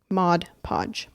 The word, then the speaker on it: Mod Podge: glue my puzzles because everyone just says Modge Podge because it rhymes. It rhymes. I like that. But on the actual bottle it's mod podge.